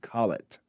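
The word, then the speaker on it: Colet: name is john collett john collett c-o-l-e-t call it john collett was employed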